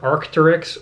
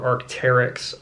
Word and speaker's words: Arc'teryx: This is pronounced either Arc'teryx or Arc'teryx. I've typically heard Arc'teryx, and that is the emblem.